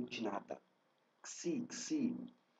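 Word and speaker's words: ξ: Xi, Xi, o Xi é aquele som do taxi, taxi, né? Então você tem o táxi como exemplo para esse som do X.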